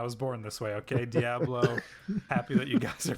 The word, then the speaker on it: Diablo: It's not Diablo. It's Diablo.